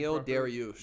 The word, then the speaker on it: Beneil Dariush: That's my personal opinion, He's like 37 at the same time, Dariush, how do you pronounce his last name? Beneil Dariush.